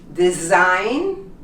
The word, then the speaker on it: design: Sign, foreign, design, resign, and champagne. You noticed? All of the words have GN next to each other, both consonants, and the G becomes silent.